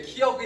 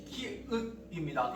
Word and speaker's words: 키읔: 이렇게 해도 키역이라고 읽는 분들이 있는데 얘 키역이 아니라 키읔입니다. 이때 키읔 받침 써야 돼요.